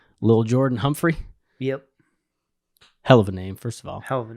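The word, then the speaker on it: Lil'Jordan Humphrey: Lil Jordan Humphrey?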